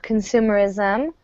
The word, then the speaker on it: consumerism: So our simple definition of consumerism, stress on the second syllable there, is the belief that